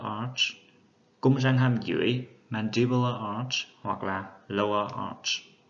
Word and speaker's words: mandibular: Các bạn lưu ý về cái trọng âm nó sẽ thay đổi. Ở danh từ của chữ hàm trên thì trọng âm rơi vào âm thứ hai, tính từ thì rơi vào âm thứ nhất.